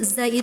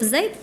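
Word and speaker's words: ز: Huruf zai itu punya sifat shofir artinya berdesis. Ada desisnya za zi, zna cuma kurang duduk gitu ya. Jadi ngambang belum dapat saofirnya ya.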